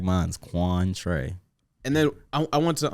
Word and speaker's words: Quantre: kindle bro what like it's it's literally two syllables can do yeah just like mine's juan trey and then i went to um what happened